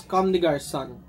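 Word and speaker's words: Comme des Garçons: this in size nine it's actually pronounces converse come to guard son now you know so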